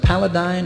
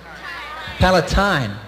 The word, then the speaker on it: Palatine: is there in this small town, was it Paladine or Paladine? How do you pronounce it? Paladine? Palatine.